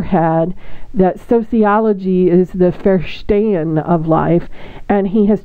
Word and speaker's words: Verstehen: Listen to the German pronunciation, Verstehen.